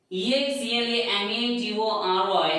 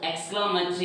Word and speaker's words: exclamatory: The pronunciation is exclamation, but exclamatory, it is not exclamatory, it is exclamatory.